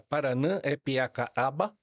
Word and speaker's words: Paranapiacaba: Em tupi guarani a pronúncia correta é Paranã epiaca aba. Paranã epieca aba.